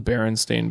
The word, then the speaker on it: Berenstain: I can relate to hardcore is um the Berenstain Bears it's it's it's spelled b-e-r-e-n-s-t-a-i-n Berenstain right it was a children's